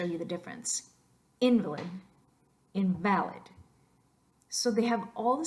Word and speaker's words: invalid: the very body fuel invalid is a thing person invalid is an adjective that's a good one to show you the difference in Valais invalid so they have all